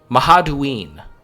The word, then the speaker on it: Mahaduin: Okay, Mahaduin. That is how you pronounce these guys.